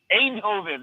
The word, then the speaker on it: Eindhoven: I'm in the mean streets of Eindhoven. How do you say it? Eindhoven, that's it.